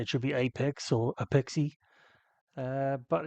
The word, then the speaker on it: APEXi: should be Apex or apexi uh but in fact in Japan they do pronounce it Apex uh and I've been